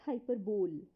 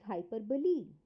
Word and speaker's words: hyperbole: hyperbole first of all please note the pronunciation it is not hyperbole it is hyperbole okay English is a